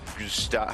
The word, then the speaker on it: Gustad: There's Gustad. Gustad. Is that how you say it? Yeah, you're right.